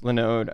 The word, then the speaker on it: Linode: Well, it's called Linode, but I just said it wrong and Linode.